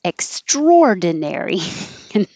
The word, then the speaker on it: extraordinary: And after practicing ordinary, it seems like this word should sound like extraordinary, but it's not. We move the stress. I don't know why. And now it's extraordinary.